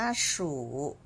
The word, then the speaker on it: 属: เรา ค่ะ คือ คำ นี้ ค่ะ อ่าน ว่า สู่ รู้ ไป ดู พินอิน ของ ตัว นี้ ก่อน